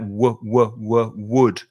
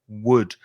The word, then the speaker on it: would: would you have to we would put your lips like that would would some spanish speakers it comes from the throat it sounds like a g but it's only from the lips only from the mouth would the same pronunciation